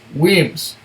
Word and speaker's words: Wemyss: If you feel moved to toast them, remember it's pronounced Wemyss.